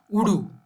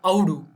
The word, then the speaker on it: Udu: For examples, earlier studies had established that the symbol zero means goat or sheep in Sumerian and is pronounced Udu or Audu.